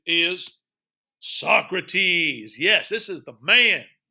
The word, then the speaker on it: Socrates: All right, a lot of people call him Socrates. That's not the way you pronounce it. This one you need to pronounce the way it's pronounced. His name is Socrates.